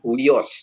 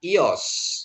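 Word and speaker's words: υιός: Nah, kalau kita dibacakan Uios gitu ya, tapi bacanya Ios gitu ya.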